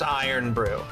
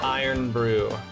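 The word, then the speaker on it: Irn-Bru: And then and then it's just earn brew is just pronounced iron brew. Okay. Gotcha. It's pronounced tiser and the other one is pronounced iron brew.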